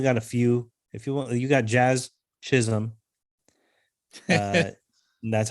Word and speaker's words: Jazz Chisholm: But if you only got a few, you got Jazz Chisholm.